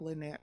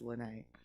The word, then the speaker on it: Lyne't: last name so it might look like lynette but it's lynnae um you're listening to the lynnae show on kuaw radio most likely you're listening to or watching the lynnae show right now